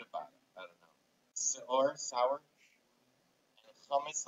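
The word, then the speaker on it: שאור: Leaven, seor.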